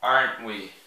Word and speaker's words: aren't we: Ó, repare que eu vou falar aren't we. Eu meio que não vou pronunciar o T.